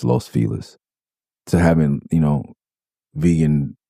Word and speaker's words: Los Feliz: I know it's pronounced fail, but it's Los Felis.